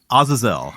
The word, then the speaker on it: Azazel: That's how you say it. Azazel. Because Azazel or Azazel. On Supernatural, they say Azazel. Yeah. Which is horribly, horribly wrong.